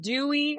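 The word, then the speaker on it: Douwe: Dutch speaking people and they all agree that it's probably Da Way which is fine but I have not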